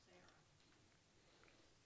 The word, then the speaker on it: Sarah: But in the dictionary, Sarah is still pronounced Sarah. So change the spelling, but not the sound.